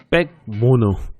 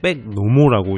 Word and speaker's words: BAC Mono: 백모노. 처음엔 음흉한 마음가짐으로 백노모라고 읽어버렸던 차량인가 동시에 좋게 말하자면 곡선의